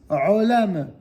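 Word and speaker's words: עולם: Troisième ligne, rolam.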